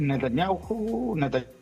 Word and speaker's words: Netanyahu: A ver, Netanyahu, como le decimos acá, la H no lo pronunciamos, ya dijo que la respuesta va a ser fuerte.